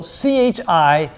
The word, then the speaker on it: chi: data and the equation looks like this so c-h-i is pronounced Chi like the case on so Chi